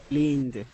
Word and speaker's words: leaned: then uh that Ed the Ed will um hold on second Ed D will make a uh a D sound okay so we're gonna say lean leaned leaned leaned there you